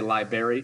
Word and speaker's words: library: A lot of people say library. They forget that R once again.